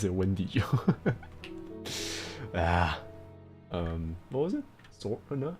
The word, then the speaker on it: Wendigo: You pronounce it Wendigo.